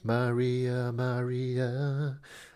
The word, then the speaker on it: Maria Maria: Yes, and I did want to pronounce it properly. Maria Maria.